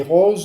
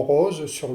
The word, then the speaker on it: roses: Vous êtes obligé de prononcer le mot rose, mais vous ne pouvez pas réaliser ou difficilement réaliser un temps d'arrêt correspondant à la virgule ici pour prononcer le E du mot rose. Or, vous devez obligatoirement le prononcer, ce E, sinon il va vous manquer une syllabe.